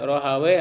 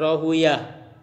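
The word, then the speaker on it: راهويه: Ini kalau yang baca weh-weh itu para ahli bahasa Arab lebih senang membaca weh, sibawe, ya, rohawe. Berbeda dengan ahli hadis itu lebih suka membaca rohuya, Ishak bin rohuya. Kalau kita belajar hadis sanad-sanad itu ada itu. Ishak bin Rohuyah itu biasanya dibacanya pakai yah, uyah gitu ya. Iya, Rohuyah. Ya, Sibuya. Tapi kalau ahli bahasa lebih enaknya we gitu.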